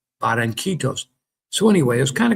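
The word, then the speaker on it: Barranquitas: That's Barancitos. Barancitos."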